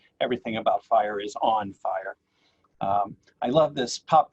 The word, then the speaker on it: FHIR: here to talk about fire f-h-i-r it's it's spelled funny but it sounds like fire and uh when you